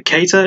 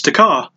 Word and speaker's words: Kattar: Sorry, Kattar. He has a very difficult to pronounce surname. It's K-A-T-T-A-R. So you'd automatically think, oh, it's Takar. Oh, sorry, Kattar. And then it's like, no, it's Kattar or Kattar.